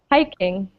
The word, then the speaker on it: hiking: Next, hiking. High. Hike. Yeah, Hi. good. So as we said, it's on the first syllable.